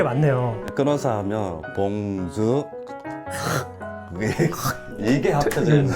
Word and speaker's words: bonjour: 일단은 한국어로 봉주르 그러잖아요. 그러면 삼음절이잖아요. 근데 사실은 이게 이음절이에요. 그래서 봉주 하고는 그냥 자음으로 끝나는 거고, 그래서 봉주 이렇게 이음절이고, 마지막에 이것도 이제 한국어에 없는 자음이다 보니까.